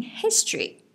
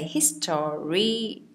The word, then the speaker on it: history: so we'll just remember we don't say history his story or that sort of thing when we used to say it's actually two syllables you say that history or you can say history in the American Way but you feel you go for like the Peters accent you say history okay